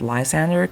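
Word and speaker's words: Lysandre: and that's my guy, Lzander. And now I realize in English his name is pronounced Lzander cuz we can't speak French, I guess.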